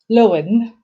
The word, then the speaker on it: Llewellyn: it so i am happy to welcome viola lowen and uh viola would tell me if i pronounced my name correctly welcome viola thank you